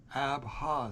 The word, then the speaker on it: Abha: Abha is the breath of life. And of course we say it breathing out, but if you breathe in the first syllable and breathe out the second, it's like taking a breath.